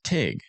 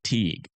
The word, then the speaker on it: Teague: If you're from Teague, you pronounce it Tig. Everyone else calls it Teague.